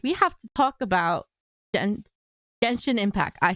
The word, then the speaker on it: Genshin Impact: But we have to talk about Genshin Impact.